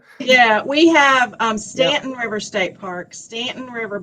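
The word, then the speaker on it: Staunton: and they call it Stanton yeah we have um Stanton River State Park Stanton River Battlefield State Park locally that's the way it's pronounced there's also a couple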